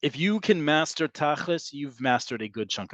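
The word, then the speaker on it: תכלס: But tachlis is the Ashkenazi pronunciation of the word tachlit, and that is spelled this way.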